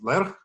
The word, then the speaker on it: Lerch: which is uh well it's a Polish name it's it's uh pronounced as lerch and uh well that